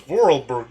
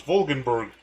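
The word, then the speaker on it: Voralberg: It was Hans Vorlberg, not Hans Vulgenberg. Okay, I got the pronunci wrong.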